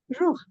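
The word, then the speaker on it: rukh: So Hathi was Ruh, R-U-K-H, they used to pronounce as Ruh.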